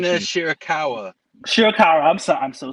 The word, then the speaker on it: Shirakawa: May with Timeless Tony storm Luther and Mina shiraka once again I apologize for my mispronunciation Mina shirakawa shirakawa I'm so I'm so sorry Mina shirakawa